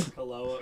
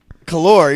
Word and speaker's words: Kahlua: Kaloa or Kaloa? I'm not saying Kahlua. I'm saying Kahlua. Kalor. You're saying like fucking Kalor. It's Kahlua. Kahlua. Okay, Kahlua.